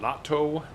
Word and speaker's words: natto: so inside of it natto i should have i should have known that that's more of a japanese pronunciation oh would you like some natto there you go i